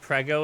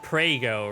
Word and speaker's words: prego: Someone in the Italian stream said prego in chat, and that's spaghetti sauce here.